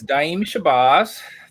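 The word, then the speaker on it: Daaim Shabazz: early morning but um my name is diim shabaz that is the way I pronounce it and I'm originally from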